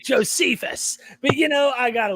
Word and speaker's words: Josephus: buddy i always sometimes he'll pronounce things josephius and i'm like josephus but you know i